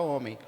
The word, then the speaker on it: homem: ela se escreve homem h o m e m não é verdade homem por que TH o h ele ele não é uma ele não é uma palavra que emite som não é verdade mas